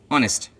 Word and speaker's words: honest: First example is honest. Honest. Look at that. Honest, H is silent.